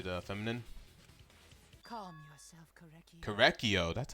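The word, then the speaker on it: Korekiyo: Korekio, that's how you say it.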